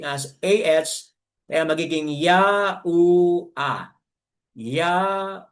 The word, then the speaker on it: YaHUaH: ya u then another he which sounds uh pronouncing as ah kaya magiging ya u a ya u a ya ua mga kapatid yan